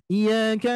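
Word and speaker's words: إِيَّاكَ: Tapi harus pengucapannya adalah iyyaka, diberikan naber ya. Yang mana naber di sini Bapak Ibu sekalian untuk memberikan sifat daripada tasydid tersebut.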